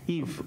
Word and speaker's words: Yves: How do you pronounce that? Yves? Yves. Yeah, Yves.